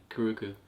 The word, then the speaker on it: Karuku: Yeah, Karuku.